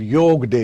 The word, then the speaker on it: yoga: culture now internationally international yog for example I will say again I'd reiterate that we resist the temptation of saying yoga and start saying yog is in one way